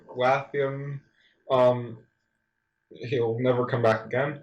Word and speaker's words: Wehttam: Watham. Watham. Yeah. If you're gonna say his name, get it right. It's just Matthew spelled backwards.